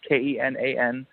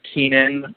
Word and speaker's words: Kenan: And in case you were wondering how to pronounce my name, it's my name is actually Kenan, but I go by Ken because it's easier, because when it's spelled out the whole way, it's Kenan. And everybody thinks it's Keenan or something weird like that.